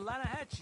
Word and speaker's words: Lanahatchee: The Lanahatchee. It runs right near here. Yeah, but it's pronounced Lanahatchee.